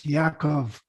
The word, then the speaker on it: Yaakov: When you think about Jacob, it's not spelled with a J, it's Yaakov.